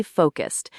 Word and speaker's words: focused: Let us practice the pronunciation of stay focused, emphasizing the long O sound in focused and making sure the S sounds are crisp and clear.